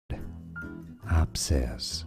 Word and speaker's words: abscess: Abscess. Stress on the first syllable.